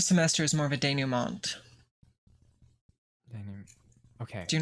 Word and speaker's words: denouement: Dude, it's a French word. It's pronounced denouement.